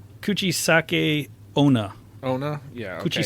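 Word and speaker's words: 口裂け女: ] pronounce it like tits know you have pronounced it that's but I was like it's not a Chinese name Kuchisake no no coochie sake kuchisake-onna oh no yeah put your sock oh yeah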